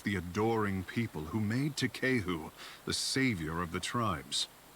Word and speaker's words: Takehu: Okay, well I need to adjust my pronunciation. It's Takehu. Takehu, got it.